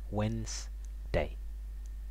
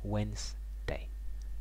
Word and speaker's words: Wednesday: is when I'm sorry we don't say the D Wednesday Wednesday okay the next one